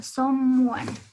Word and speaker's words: someone: Something y someone, sí, unimos en justo esas dos vocales para pronunciar como una sola, someone. Es como una unión, casi suena como una uno, someone, pero de forma más rápido, un poquito más rápida.